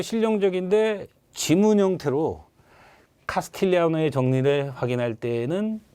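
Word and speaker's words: Castigliano: 카스 T, 이 G는 묵음이래요. 카스틸리아노의 정리라고 하죠.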